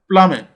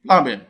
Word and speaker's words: plumber: Plumber. Plumber cannot be the answer because the letter B is not pronounced in plumbing. Plumbing. B is silent there.